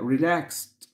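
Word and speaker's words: relaxed: حل خبير طبعا ط الاي والدي لما بضاف الدي بيتنطق ت فتبقى ريلاكس نصيحه ادفايس ادفايس ادفايس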